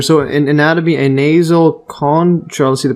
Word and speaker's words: concha: which gave their name and this is Latin concha concha or concha from Greek uh